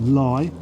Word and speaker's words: Leigh: before pinshurst lie although it's spelt lee it's pronounced lie and then to tun bridge and then it